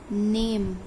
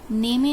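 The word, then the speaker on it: name: नेम, इसमें 2 vowel आ रहा है, पहले एन, एम, नेम। ई वॉवेल हम प्रोनाउंस ही नहीं कर रहे हैं तो हम लिखेंगे भी नहीं, नेमे नहीं है, इट्स नेम, ने म, इट्स ने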